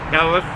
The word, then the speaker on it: Helles: That's pronounced H-E-L-L-E-U-S, HELLES.